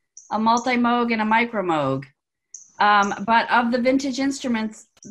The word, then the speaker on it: Moog: was James I guess wavered because sometimes people pronounce it Moog and actually there's part of an you know